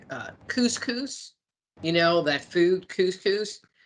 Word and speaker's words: couscous: know that food couscous I used to call it conscious and people are like what and I'm like you know that grain stuff they go you mean cous cous and it's like well that's how you say it right no phonic skills